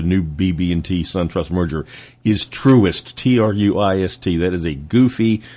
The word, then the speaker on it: Truist: The name of the new BB&T SunTrust merger is Truist, Truist. That is a goofy, made-up name, just like on all these cars where they make up names that sound Truist, Truist, Truist, not Truest.